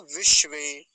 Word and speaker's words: विश्वे: अगला शब्द क्या है विश्वे विश्वे तो आसान है पीछे कई बार आया है तालव्य सकार है इसमें अब इसमें ध्यान रखने वाली बात यही है एक बार तो मूर्धन्य सकार आया है और एक बार तालव्य सकार और दोनों आधे हैं विष्णु विश्वे विष्णु विश्वे